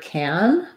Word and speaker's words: can: in connected speech is when i'm saying can i pretty much reduce that to just no vowel or the red tent vowel so if i say i can go i can i can